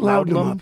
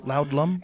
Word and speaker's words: laudanum: Laudanum. Laudlum?